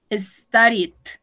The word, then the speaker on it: studied: Studied. Tampoco pronunció la E.